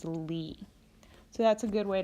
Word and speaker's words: Li: solfege syllable is Li notice that all of the raised solfege syllables end with the letter I or the sound e so we're just changing the vowel sound on the regular solfege syllables so dough when it's raised a half step becomes D ray becomes REE becomes fee so will become C and law becomes Li so that's a good